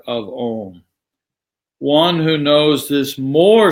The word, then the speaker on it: Om: By constantly remembering Om, the A and U become one sound and submerge into the which is where it came from. The pronunciation becomes Om, Om, Om, Om.